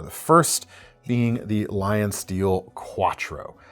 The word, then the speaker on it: Q4ttro: The first being the LionSteel Q4ttro. That's spelled Q, the number 4, ttro. Makes it real great to try and the Q4. It's like Audi. The Audi. No, they actually spelled out Quattro.